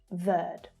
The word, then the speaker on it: Verde: So the final E on verde here is silent when spoken in English. Verde.